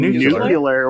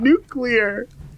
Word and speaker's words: nuclear: what do you mean you're saying nucular which is not how you say it it's spelled what are you talking about nuclear guys nuclear tomato tomato